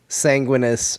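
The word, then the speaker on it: Sanguinius: Sanguinus. He said, my brother in a belting. What did I say? Primarch Sanguinus shredding on a literal metal guitar.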